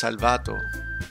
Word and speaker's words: Salvato: Yeah, it's Salvato. It's Salvato because there's no accent in the O or in the first A.